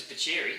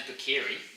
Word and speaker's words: Bakeri: Yeah, what about how good's Bacheri? Is that how you say it? His actual name is Bakeri.